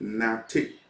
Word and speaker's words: Nartey: I'll spell it Nartey, Nate.